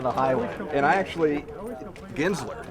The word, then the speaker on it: Guenzler: And I actually, Guenzler. Guenzler, yeah. It's I'm going to pronounce it correctly. Yeah, it's All a German That's name. how we go with it, Guenzler.